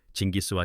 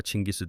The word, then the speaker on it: 칭기즈: 그의 정확한 발음은 알려져 있지 않습니다. 고대 몽골러를 실제로 구사하는이는 없기 때문입니다. 진기스와 칭기스 등 여러 발음이 들리지만 여기서는 일반적으로 통용되는 칭기즈 발음을 따르겠습니다.